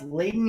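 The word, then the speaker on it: Leiden: about art all right I believe that's pronounced Leighton University all right correct me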